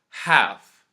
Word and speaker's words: half: talk salmon yoke calf half once more chalk talk salmon yok cough and half you can notice again that there isas a letter that I didn't pronounce this time and that's the letter L here the rule is